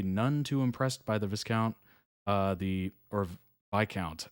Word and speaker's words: Viscount: too impressed by the Viscount uh the or by count I think I think you said that Luke s is silent or something PA developed